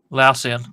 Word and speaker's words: Lausian: Lausian. Lausian. Yes, because it's LAU, so Lausian. That's how I'm interpreting it.